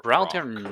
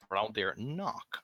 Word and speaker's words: Braldir Knock: So it was Braldir Ock or Braldir Braldir Rock? Knock, actually. Braldir Knock.